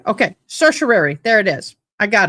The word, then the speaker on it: certiorari: It's spelled S-U. It wants me to say certiorari. Certiorari. Okay, certiorari.